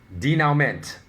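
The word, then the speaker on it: dénouement: So people don't say denouement, they say denouement, right?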